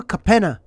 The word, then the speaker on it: Capenna: Streets of New Capenna.